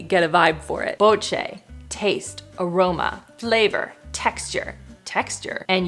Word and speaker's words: BOCE: The brand is called BOCE, B-O-C-E with an accent on the C. What would you say, Christopher? BOCE?